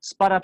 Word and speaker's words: spot-up: Voy a siempre utilizar o enfatizar la sílaba tónica en la primera partícula, en este caso pull-up y spot-up, ¿sí?